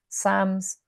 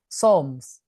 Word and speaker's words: Psalms: Sam, it's not Psalms, Psalms. That's how you say it.